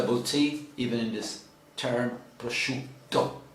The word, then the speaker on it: prosciutto: you see the boutique even in this term prosciutto prosciutto prosciutto basically zaha uh raw ham mortadella oh